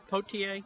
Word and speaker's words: Potier: Potier, and it's Potier.